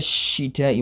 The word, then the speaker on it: الشتاء: Since it's a hurufu shamsiya, the best way to recite it properly is to join the ta and shin together, else I will be omitting the shadda on the letter shin. Hence the correct pronunciation is ila fihim rihlata shita'i was sayf.